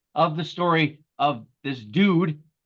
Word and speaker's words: Dood: I just love the fact that the guy's name was Dude, but he didn't spell it D-U-D-E. I love D-O-O-D. Nice. Nice. That's like I gotta take a dude.